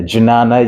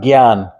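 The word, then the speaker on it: ज्ञान: In Sanskrit, the word spelt really weird. You know, how do you pronounce that? Yeah, Janana, you say, yeah, you pronounce it Gyan. If you, maybe you know an Indian person called Gyan, you know, that's what I mean, wisdom.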